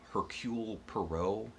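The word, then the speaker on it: Hercule Poirot: trip down the nile and then we have hercule perot that's how you say it who is just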